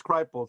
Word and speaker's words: Kripal: Jeffrey, I always mispronounce his name, Kripal. Kripal, I think it's Kripal. That's what it is, Kripal.